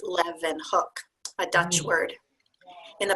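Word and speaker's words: Leeuwenhoek: so this is the pronunciation helps how it's pronounced Livan hook a Dutch word in the passage pain explains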